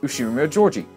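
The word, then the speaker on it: Ushiromiya George: His name is pronounced Ushiro-miya Georgie.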